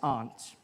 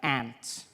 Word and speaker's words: aunt: you by for instance I pronounced the opposites of Uncle as aren't I say my arms out here you say my aunt which to me is an insect which made me look